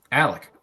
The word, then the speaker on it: Alec: Alec quick question for you how do we pronounce your name um Alec but also how about the last part um